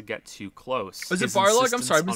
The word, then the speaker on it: Barlog: Is it Barlog? I'm sorry, I've been saying his name wrong. Shit, I and thought it was in line Balrog.